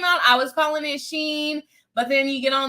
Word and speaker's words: Shein: When it first came out, I was calling it Shein. But then you get on the internet and they say it's called Shein because it's supposed to stand for like she's in, like she's, in season,